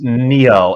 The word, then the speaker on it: Niall: as a first question is it neil or nile ferguson that's the first question well it's it's neil it's neil i mean the gaelic